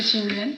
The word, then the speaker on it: Ching Yuan: Donc ton nom d'artiste, c'est Xing Yuan. Oui, ça va, j'ai bien prononcé. Oui, c'est bien, c'est Xing Yuan.